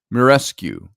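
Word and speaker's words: Muraresku: m r a r I think that's pronounced mure mirescu and it's the uh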